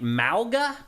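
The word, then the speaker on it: Mauga: this wrong or right malga I think is how you say it m AU GA he is a Samoan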